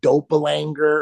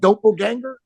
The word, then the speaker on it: doppelganger: find people like what do they call like doppelanger or something yeah okay I love that how do you say it doppelganger okay whatever that is that that's basically someone